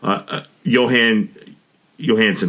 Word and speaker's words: Jóhann Jóhannsson: One is Adam, and the epic and the absolutely phenomenal Jóhann Jóhannsson. Did I pronounce his name right?